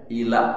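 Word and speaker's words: إيلاء: illa bukan illa. Kalau illa kecuali kalau ila kepada kalau ini ujungnya hamzah bacanya menggila kalau ini ujungnya hamzah ila gitu kan mengila apa, Bu?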